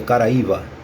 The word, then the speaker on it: Caraíba: que é que significa o termo Caraíba e no tocante que se pronuncia Caraíva Ah tá cara aí